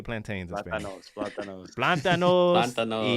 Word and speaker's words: plátanos: Plantanoles? How do you say plantains in Spanish? Plátanos.